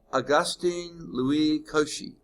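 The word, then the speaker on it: Augustin-Louis Cauchy: little blurb here on the inside margin on Augustine Louie Koshi I think is how you pronounce his name um he was the first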